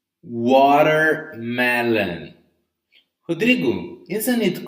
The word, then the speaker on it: watermelon: When the letter T in English is between two vowels, in this case A and E, so when letter T is between two vowels, you're going to read it with a different accent, different intonation, right? So we say watermelon, water. It's a mixture between letter R and letter D.